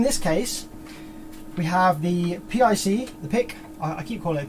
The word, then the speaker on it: PIC: not the psa is you just pronounce it pick so we have the